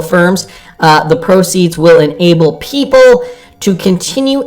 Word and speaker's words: Pipple: So one of the region's fastest growing fintechs, Pipple, pronounced People, okay, now I know,